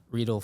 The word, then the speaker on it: Riedel: a a it right let's go Abol yeah rle like needle is kind of the way to